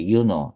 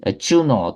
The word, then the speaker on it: 유노: 유노 또는 영어로 이제 주노라고도 이제 발음하기도 하는데 여신들의 여왕으로 알려져 있습니다. 이 주노 또는 유노는 결혼과 가족을 담당하는 여신으로 신전을 짓고서 숭배를 했죠.